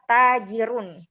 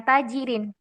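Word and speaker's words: تاجر: Kalimat setelahnya adalah tajirun. Kita tidak membacanya dengan tajirin, tidak pula dengan tajiron ya.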